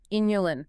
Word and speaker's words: inulin: Inulin spelled with an I. Just to be totally clear, not insulin, right?